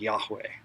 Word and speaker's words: Yahweh: it's this word and if you listen to yourself breathe you can sort of hear this name in the in-breath and out breath foreign so if you